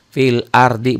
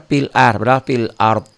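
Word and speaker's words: في الأرض: huruf mati duluan nih jadi ada dua huruf mati satu huruf mati yang nyata kedua huruf mati dalam bunyi tuh orang banyaknya bacanya Yang pertama doang seperti Wal as padahal Wal asr gitu fil ardhi banyak orang yang baca fil fil ARD Barakallah Kang Ari Ayo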